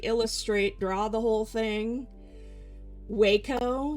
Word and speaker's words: Wacom: Waco, yeah, it's a Japanese brand apparently. And when I learned that's how you're supposed to pronounce it, my brain short-circuited and I hate it.